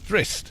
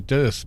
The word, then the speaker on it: Drist: Hi, my name is Drist, and today... Drist. Okay, sorry Drist. I've been calling you Durst for ages.